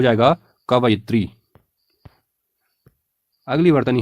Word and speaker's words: कवयित्री: अगली वर्तनी है कवित्री हम में से कई लोग इस शब्द का उच्चारण गलत करते हैं और इसीलिए गलत भी लिखते हैं इसका लेखन भी अशुद्ध होता है जबकि शुद्ध प्रयोग होगा कवयित्री क व य में हरसई और त्र में दीर्घ तो हो जाएगा कव